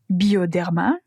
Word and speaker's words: Bioderma: Répétez la prononciation après moi. Avène. Puis La Roche-Posay. La Roche-Posay. Bioderma.